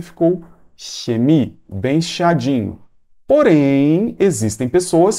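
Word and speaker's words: Chemie: dessa maneira por exemplo eu tenho a palavra química né então é xemi perceba que eu coloquei o dente aqui atrás dos dentes perceba que eu coloquei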